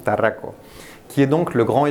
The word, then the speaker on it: Tarraco: Donc en espagnol, on prononce Tarraco, qui est donc le grand SUV, donc le petit, le moyen, le grand.